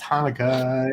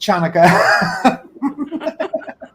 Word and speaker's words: Hanukkah: It's pronounced Hanukkah. It isn't pronounced Chanukah.